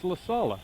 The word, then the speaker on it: LaSala: It's LaSala. Thank you very like much. a veal marsala, but a La Sala.